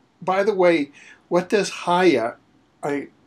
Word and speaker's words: HAIAH: new project and by the way what does haa I it's rhymes with GAA what does haa stand for it's an acronym it stands for